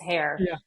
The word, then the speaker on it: Hoerr: It's hair, but it looks like a variety of pronunciations.